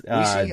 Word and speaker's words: Oicy: It's Oicy. I always mispronounce it.